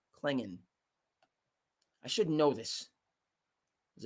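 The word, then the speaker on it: Clingan: believe Donovan's last name is pronounced Klingon. I should know this. He's a UConn guy. Klingon.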